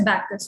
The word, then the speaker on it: Bacchus: ठीक है, ओके, ये ना बैकस है, इट is pronounced as बैकस, okay. मिडास, माइडस एंड बैकस, ठीक है, ये इंडियन प्रोनाउंसिएशंस नहीं है, माइडस एंड बैकस, ओके।